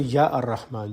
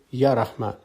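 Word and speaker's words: يا رحمن: For example, there's a word Rahman, and when you derive it as Ar-Rahman, you do not say Ya Ar-Rahman. You come back to the root word and say Ya Rahman.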